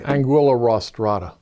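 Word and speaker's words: Anguilla rostrata: the American eel I want to try and pronounces Aang I say Anguilla Ross Trotta well the reason I became interested in eels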